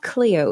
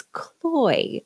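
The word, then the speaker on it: CLOi: Um, I always get this name wrong. It's not Cleo, it's cloy, uh, robots.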